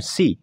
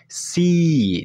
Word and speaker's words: see: Bukan see, tapi see. Jadi dipanjangkan.